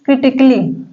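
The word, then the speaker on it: critically: नहीं दे रहा है अगर किसी वर्ड के अंत में आई आई सी ए डबल एल वाई आई तो उस वर्ण में ए साइलेंट होता है देखिए क्रिटिकली फिजिकली लॉजिकली म्यूजिकली समय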